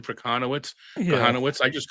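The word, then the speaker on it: Kochanowicz: But like some people call him Jack K because they don't look the pronunciation for Kahanowitz.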